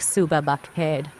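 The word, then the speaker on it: صبح بخیر: Urdu, good morning is suba baked, which is pronounced like suba baked.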